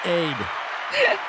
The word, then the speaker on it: Ade: Ade. Is that right? Ade for $49.99. Lovely. Oh, pronounced Aid.